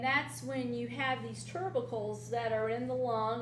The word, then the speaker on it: tubercles: In essence, it's tubercles. How do you say it? Tubercles. Tubercles. I wanted to put an R there and it's not there.